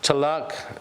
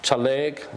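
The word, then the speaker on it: ᏣᎳᎩ: Chalak, Chaleg, Chalagi has different ways of pronouncing it.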